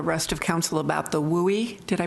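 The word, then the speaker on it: WUI: of council about the wowie did I pronounce it correctly yeah you'll hear will we a lot because wildland-urban interface gets tiring after a while when you say a lot so wildland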